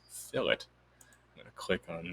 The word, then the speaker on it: fillet: it's right here see it says filet but it actually means fill it i'm going to click